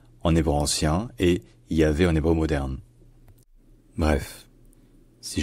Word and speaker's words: Yahvé: En hébreu moderne, c'est devenu Yahvé, Yahvé. Et c'est également comme ça qu'on le dit en français, Yahvé.